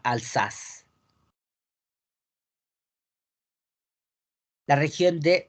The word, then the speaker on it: Alsace: En francés se pronuncia Alsace.